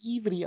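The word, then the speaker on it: עברי: Das wird ja von Hebräern Ivri ausgesprochen.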